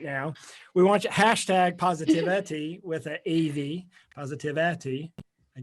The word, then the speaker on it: PositAVity: So PositAVity, PositAVity, phonetically. It's here on the screen right now. We want you hashtag PositAVity with an AV, PositAVity.